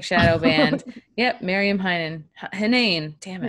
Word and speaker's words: Henein: Henein. Damn it. Henein.